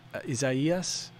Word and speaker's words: Isaias: seen in a while isaias like isaiah's but like izaias um but yeah i